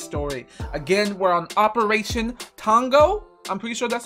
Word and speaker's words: Tonga: Again, we're on Operation Tonga. I'm pretty sure that's how you say it. T-O-N-G-A. Tonga? Tonga? Oh, shoot. I was saying O instead of an A.